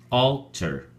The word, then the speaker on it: alter: at your flash card alter has two syllables all ter and the emphasis or stress is on the first syllable all so we say alter alter in Spanish we have